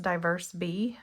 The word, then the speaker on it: DiverseBee: These are the I believe it's pronounced diverse B.